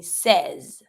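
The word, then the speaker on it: seize: The E and the I makes the sound eh. You don't pronounce the final E, so you're going to be saying says.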